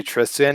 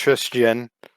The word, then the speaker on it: Tristian: and then it's pretty it's basically like christian but just put a tris at the front so instead of christian